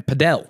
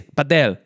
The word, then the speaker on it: padel: Is that how you say it, apparently? Paddle. Oh. But it's not paddle, though, is it? It's not paddle. If I would type paddle, I would type P-A-D-D-L-E. I think it's, because it started in Spain, right?